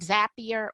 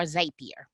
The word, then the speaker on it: Zapier: So oftentimes I'm using tools like, would you call it Zapier or Zapier? I call it Zapier, but I don't know if there's a wrong or right way to pronounce that one.